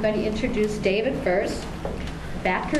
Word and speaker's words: Batker: Batker, is that how you pronounce it? That's correct.